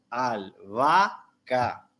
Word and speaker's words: albahaca: los ejemplos verdad albahaca cuando nosotros separamos en sílaba albahaca podemos decir que entre la segunda y la tercera a se configura un hiato porque decimos al vaca verdad entonces en la